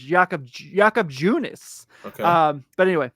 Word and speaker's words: Junis: So it's Junis. Okay, so I actually was wrong. It's Jakob Junis.